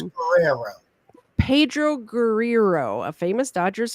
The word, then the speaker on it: Guerrero: No, Pedro It is Guerrero. Pedro Guerrero. I have trouble pronouncing things. It's Guerrero.